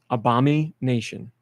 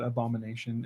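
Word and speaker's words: Abomi Nation: m i space Nation that's it how's it pronounced Obama Nation okay because you just said Abomination and that's why I got confused yes do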